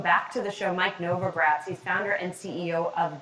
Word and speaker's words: Novogratz: this is from uh mike novigatz no let me see if i'm pronouncing this right his name right here uh novogratz mike novogratz okay he's from the